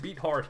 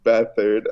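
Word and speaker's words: Beathard: entire year like CJ beat hard haha so I'm like how do you actually pronounce it okay it's battered oh my gosh that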